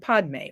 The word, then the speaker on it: padme: other words mani and padme or mani and pemei as it's pronounced in tibetan mani means jewel and